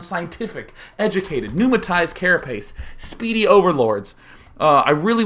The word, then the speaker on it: pneumatized: We see no sign of any sort of pneumatized carapace, which is recently something that I learned how to say. I used to think it was pneumatomized.